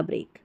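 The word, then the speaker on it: break: तो बी आर ई ए के होता है यह वाला ब्रेक। दोनों में देखिए फर्क है। लेकिन उच्चारण दोनों का सेम है।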